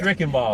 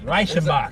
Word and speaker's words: Reichenbach: And with my last name Rick and Ball, anybody who knows phonetic know, they didn't pronounce Rick and Ball. Exactly. Rashimach. It's as German as you can find.